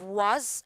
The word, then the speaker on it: was: Now try to remember long so the letter S it will be Z, right? Was.